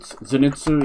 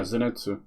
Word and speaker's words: Zenitsu: It's like um is it Zenitu? Yeah, Zenitsu.